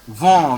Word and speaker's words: vent: Pronounce the next word. Give it a try. No. Vent.